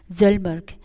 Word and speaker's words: Hjalmar: हजलबर्ग which is pronounce it HJALMAR, Zalmark.